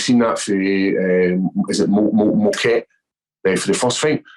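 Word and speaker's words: Mokaev: And we've seen that for is it Moquet for the first fight? Mochaev. How do you pronounce his name? Mochaev, where he had an amazing amateur record.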